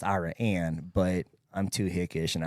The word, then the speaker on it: Iraan: Jared so now it's iraan yeah so it's yeah it's actually pronounced Iran but I'm too hickish